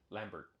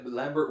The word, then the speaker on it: Lambert: movie with Christopher lamber Lambert I think it's lamber is it French I don't know if he's French but I think it's lamber I've heard but oh yeah Lambert would be the American pronunciation okay whatever long story